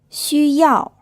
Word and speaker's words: 需要: 熊猫 Whenever the X in pinyin is followed by a U, the U is pronounced as the 2nd type of U sound, which I talked about, like the U in French. So it's U, not U.